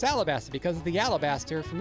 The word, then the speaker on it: Alabasta: And Melavie says Alabasta with an L.